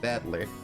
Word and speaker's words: Battler: up a character for fight in person it's pronounced battler yeah see this is person Ito but all